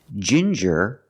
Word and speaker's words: ginger: you have different pronunciations with ginger we use the J sound like juice and jump and the regular n Jin juror Ginger people like to drink tea